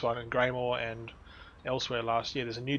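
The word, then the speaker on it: Elsweyr: elsewhere es e l SW e yr it's pronounced elsewhere so else we all do I'm looting everything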